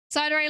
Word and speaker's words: Psydere: Psydere like Yandere is pronounced, or is it? Yeah, no, it's like Yandere or Sundere or whatever.